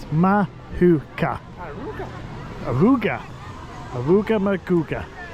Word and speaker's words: Mahuka: by going on mooka see I've learned how to say it mahuka aruga aruga aruga muga